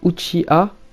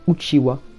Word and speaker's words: Uchiha: puissance et la crainte savez vous que uchiha est une autre façon de prononcer uchiwa donc éventail qui est